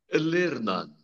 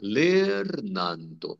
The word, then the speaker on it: lernanto: Lernando. Olha lá. Lernando. Preste atenção, o R vibrando. Lernando. Olha o N, não nasalizando o A.